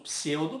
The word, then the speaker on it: pseudo: por exemplo temos o pseudo como prefixo mas não se pronuncia o P na frente lembra e o erro